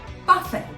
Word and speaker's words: buffet: Did you say buffet? Because that's right, that's the correct pronunciation of this word, buffet.